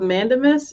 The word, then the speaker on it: mandamus: times that he has and I always get this word wrong, but a writ of mandamus, is that how you say it? Okay, yeah.